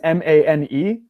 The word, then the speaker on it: mane: value in its own it's like the difference between ma n which would be man right man but if I added so it's ma n e now it's mean like a lion's mane so sometimes he comes